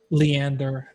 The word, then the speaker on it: Leander: of uh Lander alar I don't know how to pronounce that Leander I Leander yeah okay okay Rolland investigation check